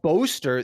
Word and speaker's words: Boaster: Yeah, but Boaster, the cadence of the syllables, Boaster. you emphasize bo.